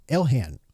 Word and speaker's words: Ilhan: Let's start with the money uh the money mystery over with Representative Elhan Omar. Is that how you say her name? Ilhan. Is it Ilhan Omar? Ilhan. Ilhan Omar.